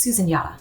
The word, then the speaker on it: Susan Yara: I'm at Susan Yara. Susan Yara. I'm trying to embrace who I used to be, my original form. It's Susan Yara. Okay, that's how you pronounce it.